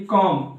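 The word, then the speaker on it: comb: के पहले हां देखिए इसमें जिसे इसमें देखिए कॉम तो इसमें क्या हो रहा है बी के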